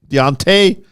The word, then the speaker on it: Deontay: a y what is that spelled t deont Deontay Wilder oh man juliia the hawk Jackson and